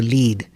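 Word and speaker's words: lede: to make sure that the lead, as we call it, and we spell it eccentrically, L-E-D-E, for reasons that I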